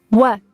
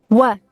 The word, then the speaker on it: what: Repare que o W tem som de U. O H às vezes é pronunciado, mas aqui a gente vai deixar silencioso. O T é quase silencioso. What? What? Quase não dá para ouvir. Por isso eu vou pintar esse T aqui de cinza para você não pronunciar ele muito forte. Vamos economizar na pronúncia do T.